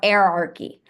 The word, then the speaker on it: hierarchy: at the word hierarchy and that's actually not how it's it's pronounced it's pronounced hierarchy or erarchy that's actually how it's pronounced so I went into